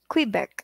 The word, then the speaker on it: Quebec: Ano ba yung pronunciation yan, oy? Quebec.